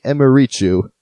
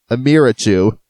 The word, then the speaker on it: Emirichu: to a realization that I've been calling a youtuber I like the wrong name and that would be Emma reach you I've been watching her content this whole time pronouncing it Emira choo which is where I